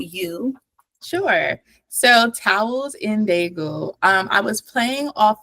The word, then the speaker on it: Daegu: Today we have the beautiful EJ Jordan with uh here with us today for her book Towels in Deu. Is that how you pronounce it?